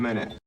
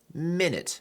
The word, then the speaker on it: minute: You got 1 minute. Minute 又是一个我们很多人会读错的单词。It's not minute, it's not minute either.